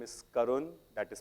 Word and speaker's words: Karun: YouTube in case you're listening my name is karun that is spelled k a r u n so the